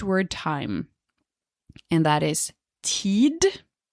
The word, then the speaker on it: tid: time and that is ted the d can be pronounced or it can be silent people who use it